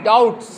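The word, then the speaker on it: doubt: ब इफ you have any डाउट्स यदि आपको कोई डाउट है डाउट की स्पेलिंग बी इसमें बी साइलेंट रहेगा।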